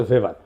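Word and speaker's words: Weber: না আরেকজন দার্শনিক আছে ম্যাক্স ভেভার এটা ওয়েবার বলে অনেকে এটা উচ্চারণ আসলে ভেভার তার একটা লেজিটিমেসি এবং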